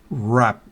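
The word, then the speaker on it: wrap: mire que esas doble esa W no se pronuncia rap no es bueno no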